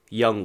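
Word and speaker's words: 영: So TXT announced their fan club name, Young One.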